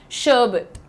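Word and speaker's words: sherbet: तो उसको हम कैसे सही तरीके से प्रोनाउंस करते हैं? शर्बिट। शर्बिट यह अंग्रेजों की निशानी है भाई। वो शर और र को अक्सर साइलेंट कर देते हैं।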